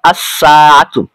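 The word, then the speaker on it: السَّاعَة: রয়েছে এখন একত্রে হলো আসসাতুন দেখুন আমি কিন্তু লাম হরফটিকে উচ্চারণ করিনি বা উচ্চারণ করেছি লামের পরবর্তী হরফটিকে তাসদিদ দিয়ে আসসাতু অর্থ হলো ঘড়িটি আশা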